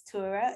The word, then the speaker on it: Tura: on here on this episode her name is tura that's the correct way to pronounce your name right you did it correctly